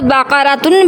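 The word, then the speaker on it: بقرة: کا معنی ہے گائے، اور وقف کی صورت میں اس کو بقرہ بھی پڑھ لیتے ہیں، بقرہ۔ تو ناظرین، اس لفظ کو اگر ہم چاہیں تو بقرۃن بھی پڑھ سکتے ہیں اور بقرہ بھی پڑھ سکتے ہیں، لیکن پڑھنا نقطوں والے کاف کے ساتھ ہے، تلفظ کو اچھی طرح سمجھ کر۔ اگر ہم نے کاف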